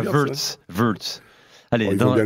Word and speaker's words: Wirtz: Il a adapté à sa prononciation anglaise. Hein. Ça restera Wirtz, hein, Polo, hein, pour tout le monde. Hein. Bah oui, non. Florian Wirtz, et pas Wirtz.